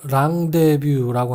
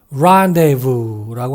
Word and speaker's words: rendezvous: 우리말 외래어로는 rendezvous라고 하는데 영어로는 rendezvous라고 합니다.